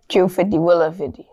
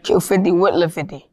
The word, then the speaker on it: Q50wLil50: That's how to pronounce the name. Q50wLil50. Say it again. Q50wLil50. Q50wLil50.